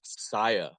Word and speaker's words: Sia: Unfortunately, I found out it's pronounced Saya.